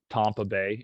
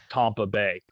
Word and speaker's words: Tampa Bay: get that you dope i'm saying tom like in tom brady tampa bay so just to get that one out um into the open but yeah tampa bay and um in new